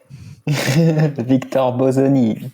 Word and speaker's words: Victor Bosoni: And of course, Victor, help us out with a good pronunciation of your surname because I already forgot. Victor Bosani.